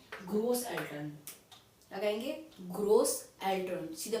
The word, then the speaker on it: Eltern: German में हम parents को कहेंगे एल्टर्न, क्या कहेंगे एल्टर्न, ELTERN, एल्टर्न।